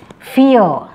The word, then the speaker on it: fear: Next is fear. Next is fear. It is not fear. R is silent here.